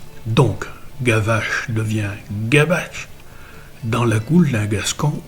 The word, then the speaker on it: gabache: Pas qu'on s'écrivait, parce qu'on s'écrivait gavache avec un V, mais en gascon, on se prononce B. Donc, gavache devient gabache dans la goule d'un gascon ou d'un espingouin.